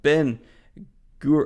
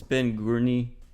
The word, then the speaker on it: Greene: But jumping on into the mild spoilers from Ben Gur. Oh, is that an R? That's an R. I mispronounced your name, man. It's Ben Greene.